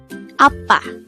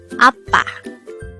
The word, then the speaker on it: 아빠: Appa. This is pronounced as a two-syllable word. The first syllable is a, second syllable is pa. Appa.